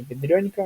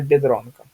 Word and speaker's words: Biedronka: слове бедронка, да, всем известная бедронка, не бедрёнька ни в коем случае, а именно бедронка, да? То есть в данном случае у этот и выполняя функцию мягкого знака. То есть мы говорим не биедронка, а именно бедронка, да?